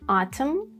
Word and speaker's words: autumn: When there is mn like in autumn damn condemn all have silent n and then o it might be silent in two situations.